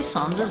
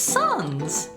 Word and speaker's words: Sans: Do you really say Sans's name with a long a like that? Is that not how you're supposed to say it? It's not Sans, right? It's Sons.